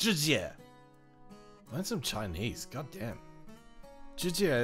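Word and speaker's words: Jessie: It's obviously pronounced Jizye.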